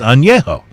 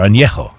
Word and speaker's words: añejo: Anything that has rested, that's the tequila word, rested, for over 12 months is known as añejo, or añejo, if you want to really try the pronunciation.